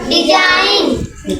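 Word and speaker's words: design: डिज़ाइन का पढ़ी यहां डिजाइन डी ई एस आई एन जी यहां का पढ़वी डिजाइन एन लिखी एन के बाद जी लिखी ना तो जी का है साइलेंट या डिज़ाइन पढ़ late D एस आई एन जी हैं।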